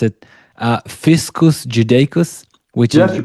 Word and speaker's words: Fiscus Judaicus: In your book, I think you describe how following the rebellion, Rome imposed the, I'm trying to pronounce it, Fiscus Judaicus, which is you pronounced the it.